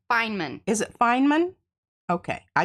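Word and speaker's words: Feynman: Tua friends of tuva Fineman well say it's pronounced Fineman is it Fineman okay I did not know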